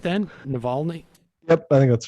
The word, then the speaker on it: Navalny: it did i say it just right then navalny yep i think that's right oh okay also